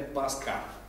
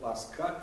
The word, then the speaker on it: Пасха: не просто западное, а специально итальянское произношение слова «пасха», там, где нет «х», звука «х». В итальянском его, как известно, нет, поэтому вместо «пасха» говорят «паска».